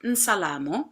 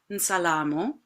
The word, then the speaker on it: Nsalamo: You can add a little I at the beginning of the n, which might help the pronunciation, but it's Nsalamo. Let's try that. Nsalamo.